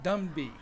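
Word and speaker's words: Ndumbi: That's complete to number 18, Simon Numbi. N-D-U-M-B-I. Go ahead, you try that. Simon Dumby. Yeah, we'll go with that. The N is silent.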